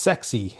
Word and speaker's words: SECZ: And they say it's pronounced sexy, right?